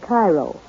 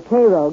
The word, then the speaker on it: Cairo: soil in and around cairo or cairo giving it the illinois pronunciation resembles that of its